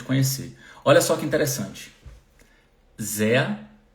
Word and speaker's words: sehr: Sehr, som de A no final, então sehr, como se fosse Z-E-A.